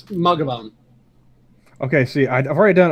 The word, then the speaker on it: Mathghamhain: Mathghamhain. Mathghamhain. It's Ma. Ma. I had to. I'm sorry. Ga, Ga. or Gov, either way. Van. Van. Mathghamhain.